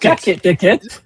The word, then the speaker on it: Jac: Jac, but that's how you say it because it's French. It's Jack.